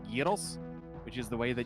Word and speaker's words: gyros: someone who knows how to correctly spell and pronounce gyros which is the way that you are supposed